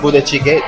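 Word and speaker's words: 부대찌개: It's very close, and I really like of course, the budae-jjigae, the army stew.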